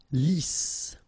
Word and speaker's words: lisse: Lisse, double S here, so it's really a strong S. Lisse. Okay, don't insist on the final E. Lisse.